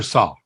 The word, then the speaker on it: Sawh: Is it Sawh or Sawh? How do you pronounce it, Ian?